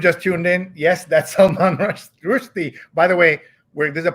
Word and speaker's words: Salman Rushdie: So we're going to just correct everybody's pronunciation. It is Salman Rushdie.